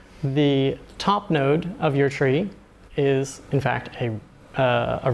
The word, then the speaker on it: trie: trees is called a tree it's also pronounced try just to differentiate it from tree but it should really be pronounced tree because it comes from the word retrieval pense TR ie these